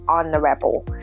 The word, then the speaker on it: honorable: the same pronunciation rules that initial H sound is omitted and we say honorable it's an initial vowel sound so we say an honorable man and as a